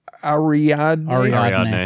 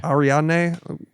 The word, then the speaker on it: Ariadne: Ariadne. Ariadne.